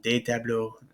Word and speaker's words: tableaux: Nouns that end in EAU, like tableau, and like un tableau and un bureau, add an X rather than an S. So des tableaux, des bureaux. And the X is still not pronounced.